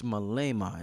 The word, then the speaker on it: Malema: revolutionary brother talking home his name is Julius Malema am i pronouncing his name right yes right right I